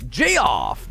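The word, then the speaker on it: Jeoff: figure it out uh how is my name pronounced Jeff j-e-o-f-f-g-off it's Jay off Jay off is here gradius and stuff used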